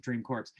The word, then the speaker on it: Dream Corp: last minute here um let's talk about about dream core corpse yeah sorry that's how they pronounce it dream corpse that's a good segue for marijuana yeah exactly